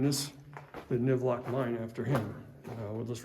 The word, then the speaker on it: NIVLOC: But this particular mining district, this mining site, Colvin, I'm sorry, not Colvin, NIVLOC. Okay, well I just kind of gave it away. NIVLOC, so what we were talking about that a second ago. Like I said, it's spelled N-I-V-L-O-C. Well, if we reverse that, it's Colvin, C-O-L-V-I-N. And that Colvin was the last name of the guy who basically founded this